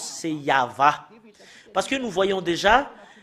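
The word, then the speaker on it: יהוה: Depuis ici jusque-là, c'est Yahva.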